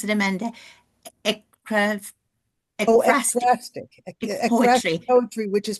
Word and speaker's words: ekphrastic: And Amanda is a poet herself and writes, how do I pronounce it, Amanda? ekphrastic.